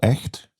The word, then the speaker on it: Echt: I think it's a place called Echt. I hope I pronounce it correctly.